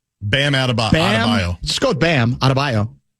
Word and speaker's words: Adebayo: Adebayo. Bam Adebayo.